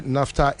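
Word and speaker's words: naphtha: Or say NAFTA is spelled N A P H T H A.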